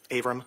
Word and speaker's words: Avram: Avram Mack. And would you spell your name for the record, please? Avram is spelled A, V like Victor, R like Robert, A like Apple, M like Mary.